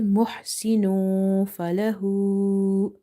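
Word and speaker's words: محسن فله: I'm repeating again, we need ikhfa here, we need to hide the sound, we don't need gunna here. So gunna is this, when you have to do nasalization, jannah, and your tongue is touching the upper palate. But when you're doing ikhfa, your tongue shouldn't be touching anywhere in your mouth and you have to make it incomplete.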